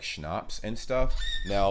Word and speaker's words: schnapps: my video on alcohol culture in German we spell it like this and say schnapps and hard liquor hardening okay mostly used as